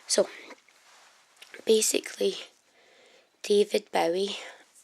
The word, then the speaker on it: Bowie: So basically, David Bowie. I think I don't pronounce it properly, but a lot of people don't. David Bowie, apparently is how you really say it.